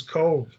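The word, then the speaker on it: Cobh: This is Cove. It's spelled, is even though it shows C-O-B, and it's Cove, C-O-V-E.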